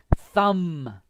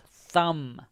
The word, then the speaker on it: thumb: the b is silent thumb okay so the b is silent thumb use for sucking next